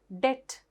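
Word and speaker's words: debt: බලන්න silent letter B තියෙන ඒවා. Det, doubt, subtle. මේ හැම තැනකම මට මාක් කරන්න දෙයක් නෑ. පුතාලට පේනවා red letter එක මොකක්ද? silent letter එක. එතකොට මෙතන det කිව්වම ණය, doubt කිව්වම සැකය, subtle කිව්වම බොහොම සියුම්ව කියන එක. එතකොට මේ හැම තැනකදීම b කියලා තිබුණාට book, bag වගේ b sound එකක්, baby වගේ b sound එකක් එන්නේ නැහැ.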